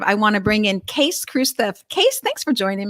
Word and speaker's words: Kees: to be here so even though you spell your name k-e-e-s it's case yes it is actually yeah that's the way you say it as my wife always said you s you say it like suitcase better than nut case but anyway yeah depends